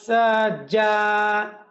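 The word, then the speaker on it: سجى: ওয়াললাইলি সাজা ওাললাইলি সাজা এই জিমটা কঠিন একটা হরফ। এই জিমের উচ্চারণ করার সময় আপনাকে সাজা একটু কঠিনভাবে উচ্চারণ করতে হবে জিমকে সাজাবুকলা মনে রাখবেন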